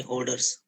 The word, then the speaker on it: hoarders: One correction, Sanjeevani, about pronunciation: hoarding, hoarders, black money hoarding or black money hoarders. You call it hoarders, okay? Okay, sir. That pronunciation was not correct.